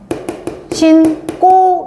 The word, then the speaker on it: 신고: 그럼 얘 발음 어떻게 신꼬 이렇게 되겠지 그지? 근데 이거는 간첩 신고 이런 거 그럴 때는 그냥 신고야.